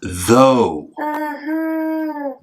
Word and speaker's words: though: Zoo. No, Beverly, it's though. Everyone say it with me. Though. Though. So what does O-U-G-H sound like? Yes? Is it O? That's right. It sounds like O.